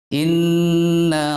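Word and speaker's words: إنّ: maka wajib hukumnya didengungkan cara membacanya Jadi enggak boleh Inna rabbahum bihim gak boleh renang masih banyak terdengar bahwa bacanya itu hanya touchscreennya saja yang terbawah tapi dengungnya tidak terbawa Inna Robbana itu tercinta terbawa tapi dengungnya tidak ada ini masih salah bacaan seperti ini yang betul adalah Inna rom in narrow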